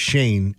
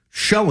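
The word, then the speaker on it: Schoen: That's so funny that like so Ed just literally told me it's pronounced Shane and literally every single person has called him show in his whole career for for Joe the GM up there.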